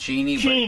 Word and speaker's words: Cheney: Cheney, as he likes his name to be pronounced. Cheney.